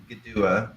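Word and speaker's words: Kituwah: that was issued by GDUA. It's spelled Kitua with a K and a T, but pronounced with a G and a D. GDUA LLC, which is the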